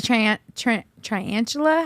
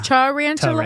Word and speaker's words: tarantula: envisioned it right now was that like the trantula how do you say that tantula yeah tarantula tarantula tarantula tarantula yeah yeah that's a long